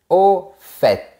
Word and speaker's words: au fait: Et on va commencer par « au fait ». Attention, on prononce le T.